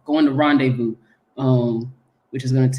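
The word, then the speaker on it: rendezvous: Taco run in medicine City Oklahoma going to Reish uh rendevu I I keep pronouncing it wrong going to Rondevu um which is going to take place I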